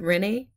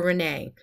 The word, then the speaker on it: Rinne: eight the Renee test there's a bit of controversy how to say it is it Rini or Renee a nice way to